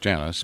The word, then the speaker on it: Janus: after the Roman God Janus j a n u s sometimes pronounced Janis but still spelled j a n u s and the god at